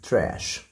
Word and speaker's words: trash: ودي trash يعني القمامه الاس اتش بتعمل صوت الشين trash.